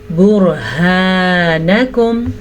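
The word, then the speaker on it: برهانكم: ہا کے تلفظ کا پھر سے دھیان رکھنا ہے. آج بہت زیادہ ہمارے پاس ہا کا تلفظ آیا ہے, آج ہمیں سیکھنے کا موقع مل رہا ہے, تو ہم اس کو پڑھیں گے برہانکم ان کنتم صادقین.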